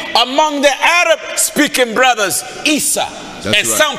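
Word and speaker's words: عيسى: are you preaching about in Arabic Jesus is pronounced Esau or Issa so in the sense Jesus is the end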